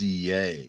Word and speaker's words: Ye: Kanye oh oh okay it's actually pronounced yay okay what's this is